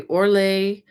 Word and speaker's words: Orlaith: This is called the Orlait. Orlaith is how it's spelled.